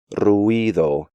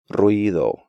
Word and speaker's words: ruido: break these diphthongs up, pronouncing them like ciudad, diurno, ruido, arruinado, and Luis, when they should be pronounced more like ciudad, diurno, ruido, arruinado, and Luis.